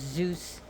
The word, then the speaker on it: Zeus: Urania, and she is the child of Zeus and Mnemosyne, pronounced Zeus and Mnemosyne in America, but the Greek names is Zeus and Mnemosyne.